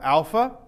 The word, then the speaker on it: alpha: But okay, so we have alpha, which is pronounced like a long A, as in father, and also can be a short A, as in bat.